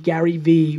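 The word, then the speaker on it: GaryVee: to Twitter by creating the username Gary ve with two silent E I'm a very big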